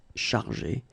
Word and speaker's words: chargé: In both cases, you don't pronounce e and you don't pronounce s. So it will go like chargé, okay, for all the versions.